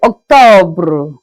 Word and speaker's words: octobre: That's in French we say Octobre. Octobre. Please here, just make sure that the pronunciation of the R is out.